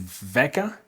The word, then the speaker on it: Vela: Today I have with me, is it Veka? Pronounce Veka?